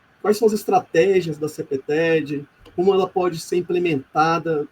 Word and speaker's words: CPTED: Inclusive, eu percebo que vocês pronunciam no inglês CPTED, como deve ser, 2 sílabas, mas para poder facilitar